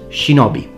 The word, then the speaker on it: shinobi: a Japanese expression that means secrecy and is pronounced shinobi.